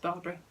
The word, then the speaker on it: Bairbre: And this is going to be, now I'm pretty sure that this should be pronounced Bairbre.